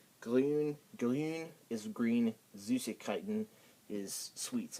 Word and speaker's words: grün: And then in the umlaut U is not the easiest thing to pronounce. It's like more of a U sound, but the way to pronounce it is that you say E. Act like you're saying E, then pucker your lips.